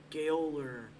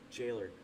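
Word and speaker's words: Gaoler: Galer. Ger. Galer. Galer. Jailer. Is that how it's pronounced? Jailer. Is it seriously pronounced? Jailer.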